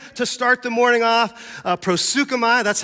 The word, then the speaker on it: proseuchomai: Proseuchomai, that's how you say it in Greek.